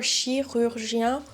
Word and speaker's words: chirurgien: of those Reddit people because we have I, U, yen. That's a lot of different lip placements in one word.